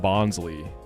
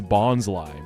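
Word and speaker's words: Bonsly: I see a lot of people saying Bonsley, but like look at it. It's a Bonsai tree. Like look at the design. It's Bonsai. Bonsai. It's right there.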